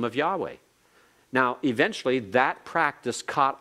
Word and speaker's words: Yahweh: pronouncing the name Yahweh and that Yahweh is probably the best I'd say 75% or more of of uh Hebrew Scholars whether they're Jewish or whether they're Christian uh whether they're Christian in name only or whether they're truly born again would agree that Yahweh is the pro uh the correct pronunciation of the title but they decid that